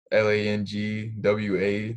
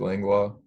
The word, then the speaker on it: Langlois: I always tell them Langwa. That's how you would pronounce it, Langlois.